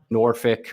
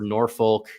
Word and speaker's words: Norfolk: so uh GJ says Norfolk doesn't get a hard L it's pronounced almost like